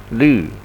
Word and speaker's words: 律: And it's not basically U, but with two dots above. This is the German way of pronunciation, Lu. And that down with the tonation mark going down, Lu. Not Lu, but Lu.